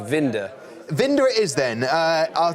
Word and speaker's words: Winther: Vinder. And it's written down here as Winther. It's pronounced Vinder.